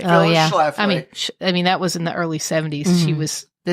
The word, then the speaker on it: Schlafly: Schlafly.